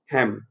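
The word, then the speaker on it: helm: ठीक है, लीडरशिप की पोजीशन जो बैठा हुआ है, हेम। एल साइलेंट है इसमें।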